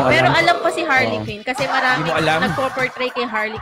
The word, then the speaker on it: Harley Quinn: How to pronounce? Harley Quinn or Harley Quinn? Harley Quinn. Pero may E eh. Hindi, Harley Quinn yan.